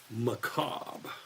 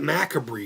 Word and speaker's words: Macabre: No, get rid of the C on the word Mac. Ma, as in, hey, ma. And cob. Like corn cob. Macabre.